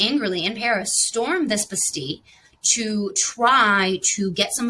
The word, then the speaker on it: Bastille: Okay, Bastille, Bastille. It's pronounced Bastille, and obviously right with the French.